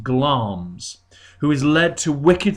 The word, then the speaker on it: Glamis: you can see here it's written Glamis but it's pronounced gloms who is led to